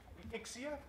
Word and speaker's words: Ixia: Dennis Cox comes from Ixia, is that how we pronounce it? Yes, Ixia.